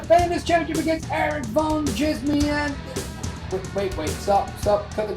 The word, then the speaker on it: Djismie: At Erik Van Djismie, and that is with a silent D.